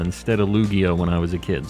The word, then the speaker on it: Lugia: I feel like that's not the way I would say it, but I used to say Luigia instead of Lugia when I was a kid, so I guess